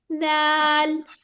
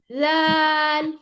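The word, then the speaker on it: دال: नहीं आनी ठीक है इसमें भी टिप ऑफ द टन थोड़ा सा दांत से बाहर दाल लाल नहीं है ये लाल नहीं कहना लाल हां बेहतर हो गया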